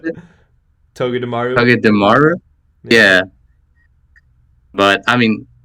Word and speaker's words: Togedemaru: How do you pronounce it? Togedemaru.